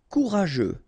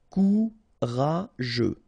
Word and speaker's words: courageux: Courageux, final X not pronounced. G-E-U together, they will give you this je, okay? Courageux, courageux.